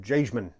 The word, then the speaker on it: Jagemann: And it's got a name that's tough to pronounce, but over on their videos and stuff, they pronounce it Jagemann.